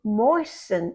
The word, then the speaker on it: moisten: If something is too dry, you can moisten it. Again, that T is silent. Moisten.